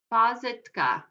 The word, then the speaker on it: pažitka: One of the questions I see in the chat, what is pazitka?